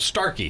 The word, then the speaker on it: Starkey: Is that the right way to say it? That's the right way to say it. Is there a longer title, or is that it? Starkey.